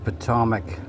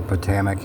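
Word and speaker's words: Potomac: absolutely CGI but that patomic or pamic however you want to pronounce it yes it kind of sounds like Atomic right there's a reason for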